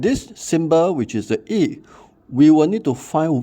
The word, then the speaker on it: Yi: YI represent E. It's pronounced as E.